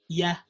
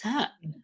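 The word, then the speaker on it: هيه: Ya. It's not ya, it's ha.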